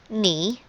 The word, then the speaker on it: knee: word for instance is knee which is represented by n n and e all right because k here is not pronounced next the word is